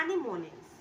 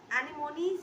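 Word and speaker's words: anemones: एनिमोनिस। एनिमोनीज या एनेमोन्स, हम दोनों में से कुछ भी प्रोनाउंस कर सकते हैं इसे। एनेमोन्स होता है बट यहाँ पे एक राइम करने के लिए इस चैप्टर में, इस पोएम में हमने इसे एनेमोनीज पढ़ना है।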